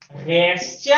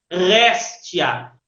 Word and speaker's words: réstia: ela cobrou uma réstia réstia é o acento no é véstia porque é uma paroxítona ou seja acentuada na na segunda sílaba comprar da esquerda para direita réstia ela comprou uma réstia